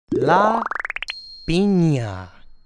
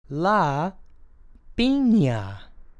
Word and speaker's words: la piña: A pineapple is pronounced la piña. La piña.